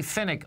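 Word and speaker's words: Pfennig: And, of course, you know, folks, when you Google, Chris writes the Daily Finnick with Chuck Butler, okay?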